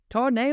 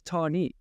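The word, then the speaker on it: Tahnee: They're doing hardline, Tarnay or Tarni. Why do I think it's? I mean, I don't even say it correctly, and everyone else says Tarni.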